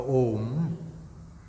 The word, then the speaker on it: Om: So all of you know that the single lettered mantra, the Om, has 3 syllables, namely A, U, Ma.